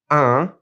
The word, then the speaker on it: un: First of all, we have un, U-N, and we're going to push that in through our nose. It's a nasal.